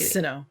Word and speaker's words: Hisui: Oh, it's Hisui. Sinnoh. Oh, okay. Follow me then. Onward to Jubilife Village. Jubilife. He pronounces everything wrong.